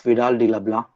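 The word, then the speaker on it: Vidal de la Blache: was a follower of vidal di labla or you can pronounce it as blush who advocated the principle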